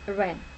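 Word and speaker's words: 亻: Typically, this partial character is pronounced as Ren.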